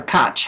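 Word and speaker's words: Koch: now let's look at Coke and or cotch how I think it's pronounced Coke so we we see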